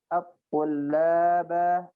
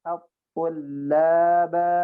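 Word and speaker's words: الطلابا: Dan yang tadi saya at-tullaba banyak dipanjangkan ya. Arju bihi ayyan fa'at-tullaba at-tullaba at-tullaba.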